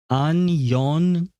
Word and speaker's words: 안녕: Wait, are we pronouncing Annyeong? It's Annyeong.